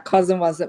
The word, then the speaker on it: CosmWasm: But can I ask, could you pronounce that again? Cosmwasm? Yeah, CosmWasm.